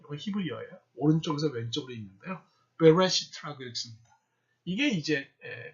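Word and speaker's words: בראשית: 베레시트라고 읽습니다.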